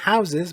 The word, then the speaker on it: houses: میگیم a house، جمعش که میشه houses، به تلفظش دقت کنید، در حالت مفرد صدای سه میده house، در حالت جمع میشه ز houses.